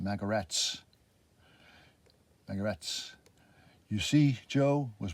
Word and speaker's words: Magarac: Magarak, why that means jackass in Serbo-Croatian. Yes, but that's what he called himself. Pronounced Magarats.